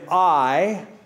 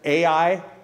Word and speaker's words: Ai: tent with with beth-el on the west and i on the east now when you see that little word AI i've heard people pronounce at AI but it's pronounced i think i I or